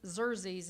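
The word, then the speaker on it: Xerxes: Um, now King Zer Zerz, it's it's spelled ex or Exxius, but it's um pronounced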